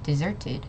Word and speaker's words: deserted: that means it's a deserted area okay we're emphasizing on the sir deserted and also the S is like a z kind of sound deserted not deserted okay